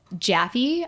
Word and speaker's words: Jaffe: During a table read for the voice artist, Velma's voiceover actress, Nicole Jaffe, apologies if I mispronounced your last name, and it's actually Jaff.